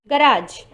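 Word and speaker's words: garage: गराज, जैसे कि गराज की जो स्पेलिंग है उसमें एंड में जो जी ई आता है, वहाँ पर हम जी को ज पढ़ते हैं, हम ग नहीं पढ़ते।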